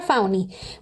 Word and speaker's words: Fani: un sentido contratado por Fanny se pronuncia fauni Willis para perseguir a